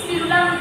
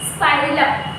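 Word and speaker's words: Spirillum: ठीक, तो स्पिरुलम जो है, स्पाइरलम बोलो या स्पिरुलम बोलो, लेकिन स्पिरुलम अच्छा नहीं होता है प्रोनाउंसिएशन, इसलिए आप क्या बोल सकते हो? स्पाइरलम।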